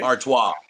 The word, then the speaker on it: Artios: It's like the beer Stella Artois. Okay. Artois. So Okay. it's like our twat, but just lose the T and make an R.